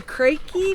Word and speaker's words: Kreke: It's the KREKE family, is I think how you say it.